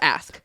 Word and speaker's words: ask: But he was like, "You need to stop saying axe," and he wrote it on the board and was like, "You are saying this word, but this is how you say it. Like, this is the actual word." I wrote axe and ask, and after that, I said ask.